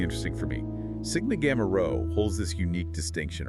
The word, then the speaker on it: Rho: Cappa Alpha Sai pronounced Sai, Sigma Gamma Row pronounced row.